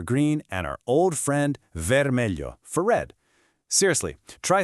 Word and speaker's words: vermelho: That's pronounced vermelho, and yep, it means red.